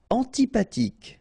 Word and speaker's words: antipathique: Antipathique. So remember, this H doesn't exist phonetically, so antipathique. Okay, final E not pronounced.